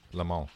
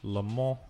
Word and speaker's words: Le Mans: Le Mans. Le Mans.